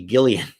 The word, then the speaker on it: Gillian: for Brita yeah it's it's spelled like Jillian Anderson with a soft G right or like a j but she's actually a Gillian yeah like Gilligan exactly but a lot of